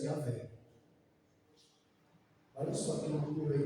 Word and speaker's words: Yahweh: palavra Adonai nessa pronúncia Yahvé. Olha só que loucura aí. Você sabia disso? Observação importante: a forma Jeová tornou-se muito conhecida no cristianismo, embora academicamente Yahweh seja considerada mais próxima da pronúncia antiga.